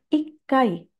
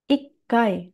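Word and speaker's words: 一回: Kemudian yang ada tse kecil ya. Contohnya adalah ikai, ikai, satu kali.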